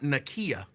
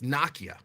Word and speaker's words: Nakia: Now, you know people are mocking me for pronouncing your name that way. But, and correct me if I'm wrong, that's how you told me that it's supposed to be pronounced, although most people don't do it. It's not Nakia, it's Nakia.